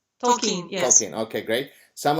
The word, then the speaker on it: Tolkien: Tolkien. Am I pronouncing him right? Tolkien, yes.